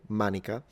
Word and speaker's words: manica: What is cool about the Latin word manica is that we still have the exact same word in modern Italian, pronounced exactly the same way, manica, and it just means sleeve.